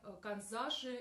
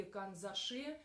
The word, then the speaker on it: канзаши: звездой выполнены в технике канзаши или канзаши это слово не русское ударение иногда ставят и на эту на эту буквы на другую пришло это я пришла эта